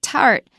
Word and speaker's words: 塔: Now, first of all, when you say tart, and then the Chinese word for it actually is a foreign loan. It is the syllable ta with a third tone.